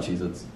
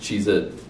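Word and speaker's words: Cheez-It: always been chees hit it's not cheese hits guys wait it's it's not cheit with a z it's just cheit which would make which doesn't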